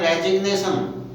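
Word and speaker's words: resignation: लेकिन अगर इसका हम नाउन बनाते हैं रेजिग्नेशन, तो उसमें जी साइलेंट नहीं रहेगा, उसमें जी बोला जाएगा।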